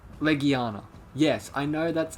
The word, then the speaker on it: Legiana: yes i know the monster is called like leguana yes i know that's how the wording is and that's how it's properly pronounced i just got used to calling it legiana because that's what i thought because of me